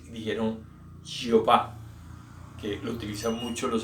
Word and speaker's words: Yahvé: Entonces queda Yahweh o Yahvé, como nosotros lo llamamos.